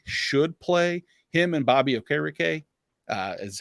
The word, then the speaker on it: Okereke: It's Okereke?